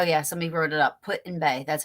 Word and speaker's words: Put-in-Bay: my uh oh yeah somebody wrote it up Put-in-Bay that's how you say it um hi Pammy